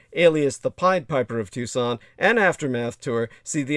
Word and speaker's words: Tucson: spell it like it was toxin but it's pronounced tucson put the word the in front of it